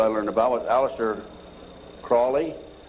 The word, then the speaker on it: Crowley: learned about what Aleister Crowley he likes to have his name pronounced Crowley to rhyme with holy and the Satanists today